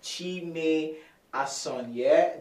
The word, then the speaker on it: Chime Asonye: He's no other person than Chime Asonye. Did I get the pronunciation right?